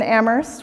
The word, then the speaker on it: Amherst: You might think I don't have to say this in Amherst, where only the H is silent, but don't forget to communicate.